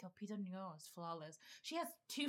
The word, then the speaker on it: Lupita Nyong'o: All right, best supporting actress, which made me super happy, is Lupita Nyong'o. Right? I said it right. I did. We watched. High five. Lupita Nyong'o.